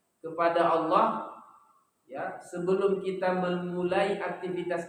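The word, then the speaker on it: الله: ilmu ee bunyi bahasa lafaz Allah itu kan dibaca asalnya dengan tafkhim ya Apa itu tafhif tebal dibaca Allah Iya kan ah kapan dibaca tafkif eh takfif tipis murqa tipis dia kalau sebelumnya kas kasrah kalau sebelumnya fathah dan dah dibaca tebal kalau sebelumnya kasrah dibaca tipis tipis itu bermakna ringan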